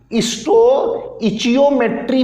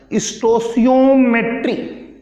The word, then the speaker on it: stoichiometry: इसका प्रोनाउंसिएशन कैसे कहा जाएगा उसे देख लो। स्टोइचियोमेट्री भी कहते हैं इसे, स्टोसियोमेट्री भी कहते हैं। फिर दोबारा से देख लो, ज्यादा प्रोनाउंसिएशन इसी तरह से होता है, स्टोसियोमेट्री, स्टोसियोमेट्री इसको कहते हैं।